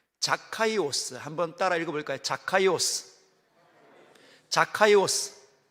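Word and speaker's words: Ζακχαῖος: 뜯어보도록 하겠습니다 이름은 오 원래 원문은이 발음입니다 헬라 보죠 카이오스 한번 따라 읽어볼까요 카이오스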